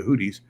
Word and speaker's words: Houthi: Last week, Kim interrogated me about the Houthis, and I just want to say very, very clearly that you can pronounce it Houthi or Houthi because I've heard it pronounced both ways.